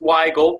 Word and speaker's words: Weigle: I do have to point out it's pronounced Weigle, but it's a tricky one.